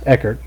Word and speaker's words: Eckhart: We'll see what track position comes out as the 70 of Eckhart, I believe is pronounced, Eckert, stays out.